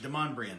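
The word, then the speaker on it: Demonbreun: because it's pay whew look at the word it's spelled demon brew it looks German yeah it's French Demond Brian yeah so yeah that's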